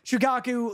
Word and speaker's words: Shukaku: just like like shukaku right that's how you pronounce it you nailed it shukaku like one tailed beast obviously the first um